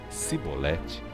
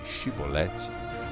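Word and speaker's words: xibolete: não os guardas exigiam que ele pronunciasse a palavra chibolete Se ele não fosse capaz de pronunciar a palavra e ele pronunciasse se bolete em vez de chibolete ficava claro que estava mentindo neste caso o prendiam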